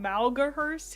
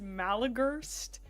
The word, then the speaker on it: Malagurst: I called him Malahurst. His name is Malagurst.